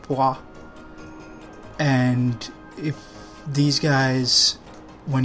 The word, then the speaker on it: pois: me that the French word for pea is pronounced pois.